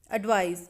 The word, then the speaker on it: advise: Advise मतलब सलाह देना। Here S is sounds like Z, Z.